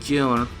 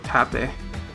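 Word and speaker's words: 盾: Shield means shield, and the kanji is pronounced Jun or Tate.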